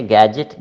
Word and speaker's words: gadget: So the spelling is DGET, but it is pronounced as JIT.